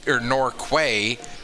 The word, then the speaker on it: Norquay: And then as a Nova Scotian, when I see Quay, I think of key as in like the key at the harbor. But if it's pronounced Norquay, I do apologize.